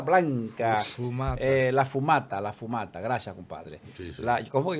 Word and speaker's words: fumata: La humarera blanca, eh, la fumata, la fumata.